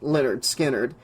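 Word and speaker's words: Lynyrd Skynyrd: She picked up the case of the eighttrack tape that read Leonard Skinnard, pronounced Leonard Skinnard.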